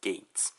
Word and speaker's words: Geiz: his name is spelled as gays but it's pronounced as gates yep so overall why they think about the